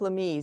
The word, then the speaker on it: Lamy: But in 1850, the Catholic Church sent a bishop, Bishop Lamy is the way that's pronounced, Bishop Lamy.